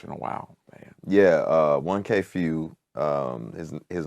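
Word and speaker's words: 1K Phew: This is the first one, though, that you have collaborated with another artist, 1K Few.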